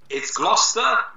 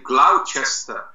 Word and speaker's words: Gloucester: do you say the name of your town gloucester but in american english i would say gloucester that's about how i say it yes in